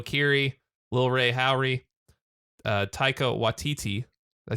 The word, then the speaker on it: Waititi: Jodie Comer, Joe Keery, Lil Ray Howery, Taika Waititi.